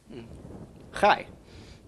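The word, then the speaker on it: חי: Chai. Yes. First we pronounce the ch of the chet. followed by the ah of the vowel, followed by the y of the yud.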